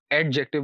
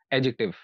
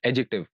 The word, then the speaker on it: adjective: इस वर्ड को नॉर्मली लोग एडजेक्टिव बोलते हैं, यानी डाल की आवाज़ भी निकाल देते हैं। तो इसमें डाल की आवाज़ नहीं है, डी साइलेंट है। तो इसकी जो करेक्ट प्रोनाउंसिएशन है that is एडजेक्टिव। Just gym की आवाज़ आएगी, डाल यानी डी डी की आवाज़ नहीं आएगी।